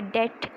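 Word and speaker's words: debt: To home my डेट is great. डेट का मतलब होता है कर्ज़, इसका बी साइलेंट है, कि जिनका मेरे ऊपर बहुत ज़्यादा कर्ज़ है।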